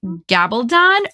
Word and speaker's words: Gabaldon: It's the L. So thank God it was you. The L really trips me up.